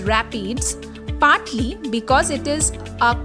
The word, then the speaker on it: RAPDs: RAPD or Random Amplified Polymorphic DNA is usually found in the plural as RAPDS, which is often pronounced as rapids, partly because it is